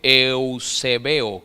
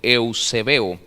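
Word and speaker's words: εὐσεβέω: Es la palabra griega que se escribe eusebeo, como Eusebio, pero eusebeo.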